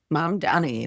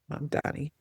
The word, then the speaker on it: Mamdani: Like I'm trying to learn how to say his name, Mamdani. Mom Donnie nailed it. Mamdani.